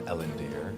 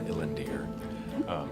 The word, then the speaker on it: Illendir: So I am Illendir, or Illendir, depending on what tongue you pronounce it in.